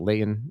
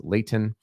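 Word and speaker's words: Layton: Corner Canyon versus Leighton remember Utah pronounce your te's it's not Leon it's Leighton uh we also have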